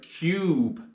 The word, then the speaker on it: cube: Now, if you put a silent E on the end of the word, you now have the word cube.